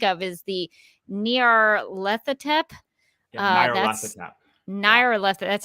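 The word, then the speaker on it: Nyarlathotep: i can think of is the near lethatep naira left that's how you say it okay okay uh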